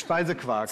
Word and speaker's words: Speisequark: Speisequark? It's Speisequark.